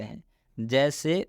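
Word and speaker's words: hedge: हेज, क्या इसका उच्चारण क्या होगा? तो इसको हम लोग पढ़ेंगे हेज। इसलिए डी के बाद जी है।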